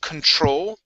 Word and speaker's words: control: This word here is pronounced control. The stress is at the very end instead of control.